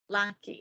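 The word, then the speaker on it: Lockie: Lachlan right yep and then how do you pronounce the short version Lucky okay lucky I had to ask because I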